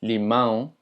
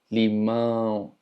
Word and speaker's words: limão: Puedes intentar practicar los sonidos nasales tapándote la nariz para que empieces a practicar a pasar el aire por la nariz cuando estás pronunciando algo. Por ejemplo, limão, limão, limão, limão, limão. Y no lo tienes que hacer tan exagerado, pero vas a empezar a sentir cómo vibra tu nariz cuando estás tratando de pronunciar algo de manera nasal.